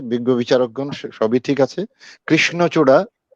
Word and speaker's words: কৃষ্ণচূড়া: কৃষ্ণচূড়া এই উচ্চারণটি একটু সমস্যা হয়েছিল, কয়ের জায়গায় একটু চাপ পড়ে ক্ষয়ের দিকে চলে যেতে চেয়েছিল কৃষ্ণচূড়ার বিষয়টি। আর এমনি সবই ঠিক আছে, ভালো লেগেছে আবৃত্তিটা অনেক, এটা আমি 80 দিলাম।